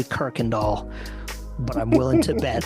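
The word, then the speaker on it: Kuykendahl: amazing that's amazing don't even start me on Kirk and doll yes Kirk and doll that's a German thing for you listeners the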